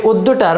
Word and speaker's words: অদ্য: যেমন এখানে আমি লিখেছি অদ্য। এ উদ্যটার প্রথম বর্ণ হচ্ছে অ। অ যদি থাকে এটার পরে জফলা যুক্ত ব্যঞ্জন বর্ণ থাকলে সে অ এর উচ্চারণটা হবে ওকারের মত। যেমন এখানে এটার উচ্চারণ হবে উদ্য।